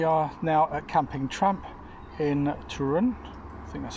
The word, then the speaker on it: Toruń: So after visiting the vets which we'll talk about in a moment uh we are now at camping in Trun.